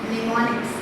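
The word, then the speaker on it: mnemonics: This is निमोनिक्स, MS silent please. This is called as निमोनिक्स।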